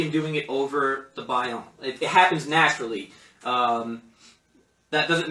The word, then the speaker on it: Baião: So you have two examples of ways that I use Baião in Baiao. I always say it wrong, but it's Baião.